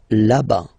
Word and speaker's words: là-bas: Remember, final S not pronounced. Là-bas. Loin, loin.